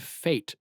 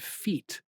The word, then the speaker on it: fete: It's spelled Fete. So me, as a layman, I would have read it and I would have said feet. But Fate. yeah, fate.